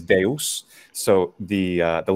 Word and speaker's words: Zeus: one of course so in English you say that Zeus Zeus Zeus and of course in Italian we say Zeus Zeus now what happens in um in ancient Greek pronunciation there well the oldest standardized for the pronunciation would be that classical attic one that most people are interested in is Deus so the the letter